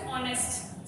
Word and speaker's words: honest: Again you have to say the H letter silent. We don't spell H here. We have always say honest.